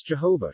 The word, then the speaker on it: Jehovah: letter j o d whence jehovah should be pronounced jiva and this point leads